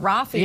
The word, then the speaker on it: Raffi: be a cup of Raffi because his face is on this mug. Raffi Coffee. Raffi Coffee. That's right. That's actually how I tell people to remember my name. It rhymes with coffee.